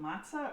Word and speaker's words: matzah: this amazing matzah ball oh wait is it matzah or matzo it's matzah okay but it is spelled